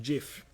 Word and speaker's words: GIF: it's random gift time or jif apparently this is supposed to be pronounced jiff allegedly i saw her on